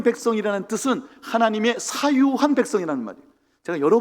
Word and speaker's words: 사유: 여러 번 말씀드린 건데요, 이 소유를 사유라고 읽으셔야 됩니다.